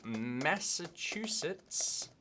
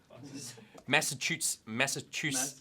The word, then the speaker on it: Massachusetts: Researchers at the Massachusetts... Yeah? Don't worry about how it's spelled. Massachusetts...